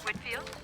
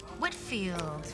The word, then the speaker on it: Whitfield: next week can just wanted to get the pronunciation of her last name correct Whitfield Whitfield well that's what I thought and how do